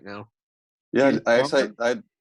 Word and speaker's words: Stormare: Yeah, Peter I Stormare? I had to look it up. It's Peter Stormer.